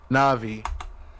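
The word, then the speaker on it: Navi: your name na'vi na'vi na'vi like the like the fairy from Zelda yes let's go I immediately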